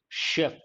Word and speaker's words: chef: How do you pronounce this? Chef. Sh sound.